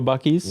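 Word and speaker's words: Buc-ee's: Yes, correct pronunciation, too. I I have never I've never been to a Bies.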